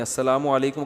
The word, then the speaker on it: السلام علیکم: میرے بھائی کا السلام علیکم اور صلی اللہ علیہ وسلم کا صحیح تلفظ بتا دیں. السلام علیکم کا ہے السلام علیکم, جو آج کل لوگوں